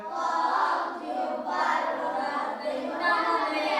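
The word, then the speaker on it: ق: কফ উচ্চারণ কেমন হবে কফ উচ্চারণ হবে কফ জিহব্বার গোড়া হতে মোটা ভাবে আদায় হবে কফ জিহব্বার গোড়া হতে মোটা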